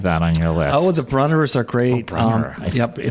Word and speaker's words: Brunnera: What about Berneras? I know you have that on your list. The Brunners are great.